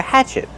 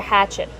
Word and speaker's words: hatchet: Use the open a sound like black cat. Hatch. Hatchet. The stress is on the first syllable. And what about the letter T at the end? Use a stop T. Stop the air. Hatchet. Not hatchet, but hatchet.